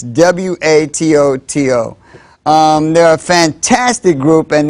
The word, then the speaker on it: Watoto: That was a video by a children's choir, and it's spelled W-A-T-O-T-O. My co-host thought it was pronounced Watoto, but I think they said it was Watutu. So I'm going to say Watutu because I think that's what they said, but it's W-A-T-O-T-O.